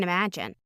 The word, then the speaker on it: imagine: 10 being the most incredible pain you can imagine. Now in this thought group, it's pretty long, but all of the words string together, and the most stressed syllable is ima, the stressed syllable of imagine.